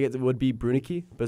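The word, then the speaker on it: Brunicke: It's not Brunicky, it's Brunick, I've never once.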